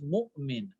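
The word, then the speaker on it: مؤمن: You all know this is mu'min. All right, when you say mu'min, you're not pronouncing the wav itself. Mu'min. All right, or we don't say movement. All right, we say mu'min.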